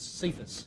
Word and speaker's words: Cephas: know the in the Aramaic for that is sephus so sometimes we'll see that word c-e-p-h-a-s cephas